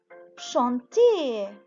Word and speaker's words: chantez: vous chantez c'est comme le verbe، بس الverbe في الانفينيتيف ER بنقرأه chanter، ومع vous بصير chanter بس EZ. إذا باللفظ ما بيختلف، بس في الكتابة بياخد EZ بدل ER.